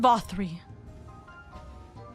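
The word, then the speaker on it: Vauthry: I've said his name wrong all the time. Lord Vothri.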